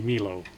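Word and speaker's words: Melo: And I know they pronounce it mellow, but it's spelled M E L O. That would be Milo.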